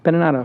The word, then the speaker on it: Beninato: will be no different today we have Joe beninato with us am I pronouncing that right yeah beninato benato what is that Italian beninato that means